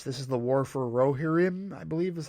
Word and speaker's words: Rohirrim: This is the War for Rohirrim, I believe is how it's pronounced.